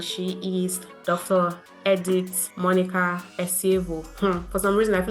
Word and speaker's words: Esievo: Edith Monica Esievo.